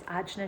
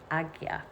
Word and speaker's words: Ajna: So this is Ajna chakra, or sometimes it's pronounced Agya.